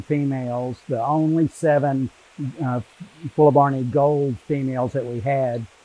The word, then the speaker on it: fuelleborni: here oh so uh i pronounce that terminal eye on full of barney as a long e because that's a latin ending and that's how latin is pronounced uh i know i'm